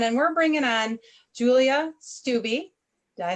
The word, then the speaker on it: Stubbe: And we're bringing on Julia Stubbe.